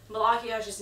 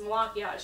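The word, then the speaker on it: Malachiasz: And even like Malachiash's name, it looks and spelled kind of like Malachias. So, but it's pronounced Malachiash.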